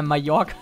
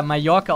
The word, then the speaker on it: Mallorca: Da hat wirklich einer Mallorca draufgeschrieben mit J. Es wird ja Mallorca ausgesprochen, aber es heißt ja Mallorca und er hat einfach so wie Mayo, Mallorca.